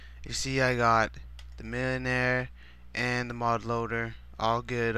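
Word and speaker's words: Millénaire: I'm gonna show you how to install the Millenaire Mod, and that's how you say it in an English accent because it's French. Millenaire.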